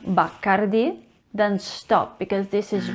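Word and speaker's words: Bacardí: it's not bakari because the last eye has actually an accent over it there is la tilde over the eye which means that the stress needs to fall on the last syllable so it should be bakardi not bacardi remember bacardi okay and we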